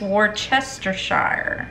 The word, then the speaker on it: Worcestershire: Now we need 3 tablespoons of Worcestershire, but I think the correct way to say that is Worcestershire.